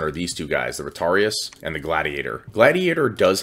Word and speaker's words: Retiarius: as generalized in purpose as the Retarius, or Retiarius, I guess is the way to pronounce it.